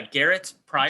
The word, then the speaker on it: Garet Prior: Can you tell me your pronunciation of your name again, please? Yeah, Garrett Pryor.